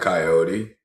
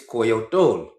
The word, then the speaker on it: coyote: It's not coyote. It's coyote. No, it's not. It's coyotol.